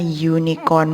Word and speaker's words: unicorn: Jadi unicorn di sini mengucapkannya unicorn menggunakan huruf y.